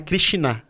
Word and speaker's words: Krishna: não surgiu krishina né Hari krishina é assim a pronúncia né correta har krishina ele ele